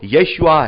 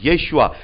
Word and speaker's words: यशुआ: प्रभु यीशु मसीह का असली जो हिब्रू में जो प्रोनाउंसिएशन है वो यशुआ है, यशुआ।